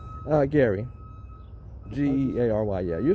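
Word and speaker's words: Geary: and your yes what's the first name uh gary g-e-a-r-y-yeah you're saying it right r y e-r-y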